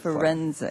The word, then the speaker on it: Firenze: Am I pronouncing that correctly? Chair Wescombe, Firenze? I pronounce it Firenze.